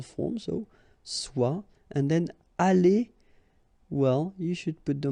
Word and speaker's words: allé: The good thing, as usual in French, is you will pronounce it aller, aller, aller, and aller. So technically you don't pronounce the final E, you don't pronounce the final S, and you don't pronounce the final ES. But still, you should write them.